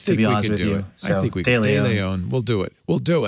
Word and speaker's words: De Leon: I'm sorry, De Leon. I always say it wrong. De Leon, actually.